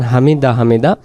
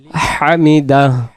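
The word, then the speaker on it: حمده: বলার পরে আমরা কি করব সামি আল্লাহু লিমান হামিদাহ এখানে আমরা যদি বলি সামি আল্লাহু লিমান হামিদা হামিদা তাহলে এই জায়গায় হাকটা চলে যাচ্ছে।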